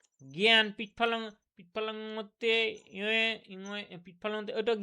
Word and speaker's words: জ্ঞান: জ্ঞান, পিৎফলনতে ইয়ে ইংয়ে পিৎফলনতে ওটা জ্ঞান বানানটা বলুন দেখি উচ্চারণটা কি হয়?